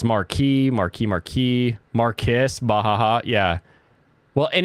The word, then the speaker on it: Marquis: The British pronunciation of Marquis is Marquis. It's very, very weird sounding though. Zex Marquis, exactly. Marquise, no.